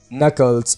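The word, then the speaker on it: knuckles: नकल्स कहा जाता है क्रैक नकल्स यहां पर के साइलेंट रहेगा बियर्ड दाढ़ी बियर्ड बियर्ड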